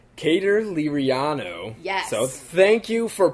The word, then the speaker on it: Cater Liriano: It's Cater Liriano. Yes. So thank you for preemptively, telling us the pronunciation.